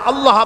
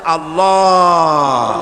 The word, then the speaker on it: আল্লাহ: আল্লাহ পাকের উচ্চারণটা হচ্ছে আল্লাহ পাকের নাম উচ্চারণ হচ্ছে আল্লাহ মুখটা একটু গোল হয়ে যাবে বলেন আল্লাহ আল্লাহ পৃথিবীতে